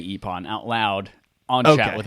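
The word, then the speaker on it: Ippon: else as long as epon is involved in in some way i wonder if we're even pronouncing that correctly i-p-p-o-n yeah we got it right who cares anonymous words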